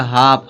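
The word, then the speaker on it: half: क्योंकि एफ से पहले जब एल आएगा तो एल क्या होगा? साइलेंट होगा। ठीक है? इसको क्या पढ़ा जाएगा? हाफ।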